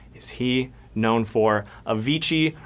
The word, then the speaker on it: Avicii: Avicii rhymes with Sir Vici.